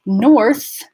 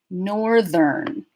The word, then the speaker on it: north: So north, northern. Now, if you have trouble with the R before the TH in north, as in one syllable, I recommend you practice northern, and then you can scale it back.